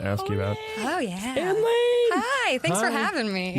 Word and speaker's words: Anne Lane: It says Ann Lane and then a little asterisk, say it like a Muppet.